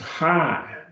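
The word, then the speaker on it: ἡ: it just a bit, is pronounced high because the iota has a rough breathing on it, so it's high, prota, agape, high, prota, agape, the first loves, right?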